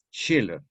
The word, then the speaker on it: Schiller: la alegría de hitler que se escribe con s ch siller s ch siller schiller gran dramaturgo alemán romántico